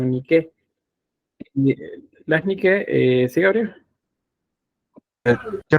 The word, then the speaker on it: Nike: vez que veamos esto, se lo voy a pronunciar como Nike, no Nike, sino Nike.